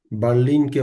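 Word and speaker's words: Berlim: বার্লিনকে বলে হচ্ছে বের্লিন।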